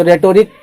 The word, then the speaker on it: rhetoric: तो रेटोरिक का स्पेलिंग है जो हम प्रोसोडी को RHETORIC, रेटोरिक भी बोलते हैं। रेटोरिक एच साइलेंट है, रेटोरिक भी बोलते हैं।